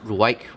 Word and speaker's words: Ruike: Now, it's pronounced Ruike, but I like to say Ruike because that's how it's spelled.